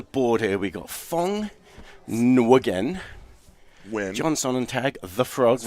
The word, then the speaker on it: Nguyen: That's, the Vietnamese name, but it's pronounced Nguyen.